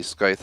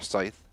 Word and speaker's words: scythe: Reaper torso I'm using the skyth of tribulation or Scythe however you want to pronounce it we have the